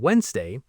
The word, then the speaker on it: Wednesday: Silent letters, letters that are written but not pronounced like the D in Wednesday.